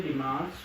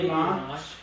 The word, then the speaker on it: dimanche: No, you're gonna have to say Sunday, Dimanche. Sunday, Dimanche. Sunday, Dimanche.